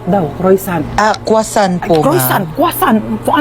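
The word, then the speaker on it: croissant: Croisant daw. Croisant? Ah kwasant po.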